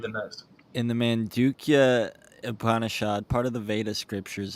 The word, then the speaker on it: Upanishad: No, uh, I think the Upanishad is the correct way to pronounce that. yeah, or at least it's the correct way to mess it up in English.